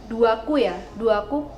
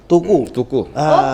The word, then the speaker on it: Tuku: Nah, produk lokalnya ini kalau misalnya saya lihat dari media sosial ada Duaku produk lokal. Tuku. Kita bacanya tuku Kak. Oke. Saya tadi pikir Duaku apa ya?